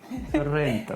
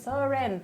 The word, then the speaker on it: Sorrento: Sorrento, right? Sorrento.